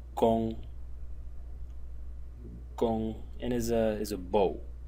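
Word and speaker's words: 弓: One is this one, which is pronounced gong, and is a bow, like a bow and arrows, this type of a bow.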